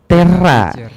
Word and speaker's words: Terra: Gimana sih bacanya? Ya. Terra.